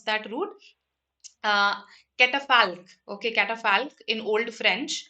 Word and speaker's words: catafalque: Let me just pronounce that root. uh, Catafalque.